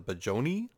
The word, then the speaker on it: Budyonny: They pronounce it the Budyonny. I don't see a J in there, but then again, neither am I an expert on pronouncing Russian words. So we'll just go with